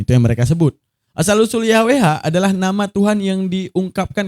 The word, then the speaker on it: Yahweh: Meskipun nama aslinya tidak diucapkan, pengucapan yang umum adalah Yahwe. Pengucapan lain seperti Yehova dan Yehua juga digunakan oleh sebagian orang.